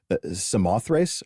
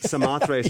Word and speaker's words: Samothrace: to read this one, Samothrace. Is that how you pronounce it? Samothrace. The following... Samothrace might be actually more correct, but we say Samothrace.